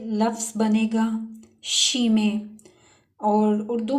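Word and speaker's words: Chemie: तो यहाँ पे लफ्ज़ बनेगा शीमे, और उर्दू में डेफिनेट इसको केमिस्ट्री कहते हैं और इंग्लिश में भी केमिस्ट्री ही प्रोनाउंस होता है।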